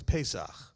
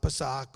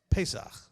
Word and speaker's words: Pesach: And anybody who wants to know how to say this correctly, it's Pesach. Not Pesach or Parasox or some other thing, but Pesach.